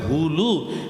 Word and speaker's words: হুলু: ঠিক তদ্রূপ উলু হবে না। উচ্চারণটা হবে হুলু।